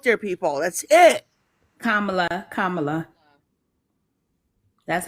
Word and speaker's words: Kamala: ping that out there people that's it kamla Kamala that's how you say her name kamla yes